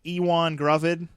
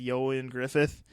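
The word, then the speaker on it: Ioan Gruffudd: If I'm saying his name right, he is kind of it looks like Ewan Gruvid, but I believe it's pronounced Yoan Griffith.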